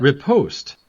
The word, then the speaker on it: riposte: Riposte. I take it back. You were right. It's riposte.